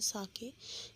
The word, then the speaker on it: sake: ठीक है, इसकी प्रोनाउंसिएशन है साके, जो कि एक जापानीज़ अल्कोहलिक ड्रिंक है.